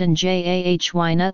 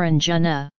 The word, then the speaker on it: angina: was described by Sushruta there is disagreement as to how to pronounce angina it could either be pronounced in JH wayna or Anjana